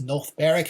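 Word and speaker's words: North Berwick: So I actually went to a town uh that is called North Beric. It's written north barick, but it's pronounced north bareric.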